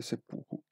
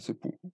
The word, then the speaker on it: seppuku: Setsu fuku diventa seppuku per ragioni eufoniche.